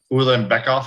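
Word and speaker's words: Ulanbekov: And the very first fight, which should be around 10:30, Ulan Bekoff, if I'm saying that right, Joe.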